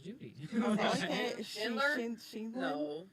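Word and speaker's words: Sheindlin: But Judge Judy, I couldn't even pronounce her last name. You just did. Judith Sheen. No, it's Oh, like her actual Sheenlin.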